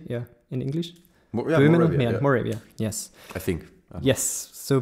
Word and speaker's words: Moravia: Moravia how do you say Yeah in English Moravia yes I think yes so people came from